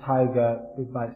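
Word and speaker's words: Tieger: I think that their surname is Tiger, spelled like T-I-E-G-E-R, I think.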